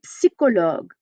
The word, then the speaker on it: psychologique: C'est un drame psychologique. Oh, that's a fun word. Psychologique. We're going to pronounce that P. We're going to come back to that in a minute.